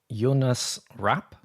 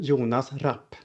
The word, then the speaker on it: Jonas Rapp: Everyone, I am Jonas Rap. That's who we say in Swedish or Jonas Rap or whatever you want to do.